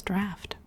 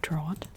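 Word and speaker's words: draught: was the time I learned how to pronounce draft, because I would have absolutely said drought.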